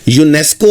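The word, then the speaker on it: UNESCO: यूनेस्को आप देखेंगे वैसे तो वोवेल लेटर से स्टार्ट हो रहा है। लेकिन जब आप इसको उर्दू में लिखते हैं तो ये से स्टार्ट होता है। अलिफ से स्टार्ट नहीं होता।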